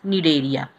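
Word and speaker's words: Cnidaria: as need area okay C is silent here so it is pronounced as need area now first let's talk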